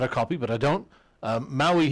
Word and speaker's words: Maui: Maui here is spelled M-O-W-E-E, because to the English ear, that's a good spelling of the sound, right?